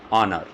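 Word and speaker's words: honour: कुछ silent words दे रहा हूँ जिनमें H साइलेंट होता है, देखिए एन ऑनर, इसकी प्रोनाउंसिएशन क्या होगी, ऑनर।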